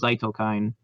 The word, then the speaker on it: Zytokine: You actually do just literally pronounce it like you would say it in English. It is Zytokine.